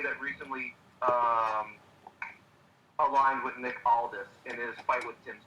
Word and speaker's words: Aldis: Nick Aldis.